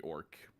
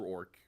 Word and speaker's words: Awrk: It's spelled weirdly though. It's AWRK. Okay. R. So it's Orc. Orc. Orc. Yeah. Okay. So it's not ORC like we normally would spell how like my people is spelled, but like Orc.